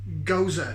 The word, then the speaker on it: Gose: their salty kiss and it is a gooseberry gozer g-o-s-e it's pronounced goza it's another like there's a berliner vice this